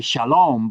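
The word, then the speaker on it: שלום: And in Western Aramaic, they make all the A's O. All the alops become O because of the Canaanite influence. And so, uh, that's why they say shalom.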